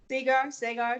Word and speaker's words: Segar: Segar. Just spell it right on the check.